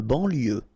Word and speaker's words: banlieue: De banlieue. Okay, final E not pronounced, so IEU, IE, L, lieu, banlieue. De banlieue.